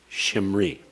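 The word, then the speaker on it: שמרי: Sheen with a hirik, Maim with a schwa, Resh with a hirik followed by a yod. Shimri.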